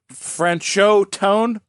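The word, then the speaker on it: Franchot Tone: it's kind of like French chode toad.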